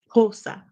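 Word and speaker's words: Xhosa: from the language of kosa kosa is how it's pronounced in the southern part of Africa and BOS is a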